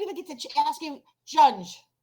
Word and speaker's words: Junge: Oh, I didn't even get to ask you, Junge, or no? Pronounced Young.